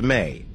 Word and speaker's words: me: related to enki is the EMES pronounced May in Sumerian culture Mees